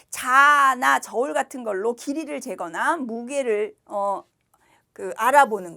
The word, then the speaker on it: 재: 그러나 앞에 재는 턱을 밑으로 내린다는 생각으로 재.